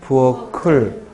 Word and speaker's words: 부엌을: 부엌을이 아니라 뭐라고 읽어야 돼? 부엌을 하고 연음을 해서 정확히 발음해야죠. 자, 6번 문제는요.